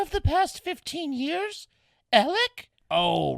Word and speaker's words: Alec: Well, it's spelled like Alex, but it's pronounced Alec.